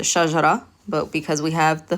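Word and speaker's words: شجرة: So if it didn't have this tanween, we'd just pronounce it shajara.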